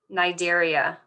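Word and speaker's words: Cnidaria: a r i a Nigeria the C is not pronounced and this includes a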